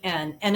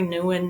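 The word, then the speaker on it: Nouwen: n o u w n and it's um pronounced differently depending on what circles Henry Newan Nan Henry h n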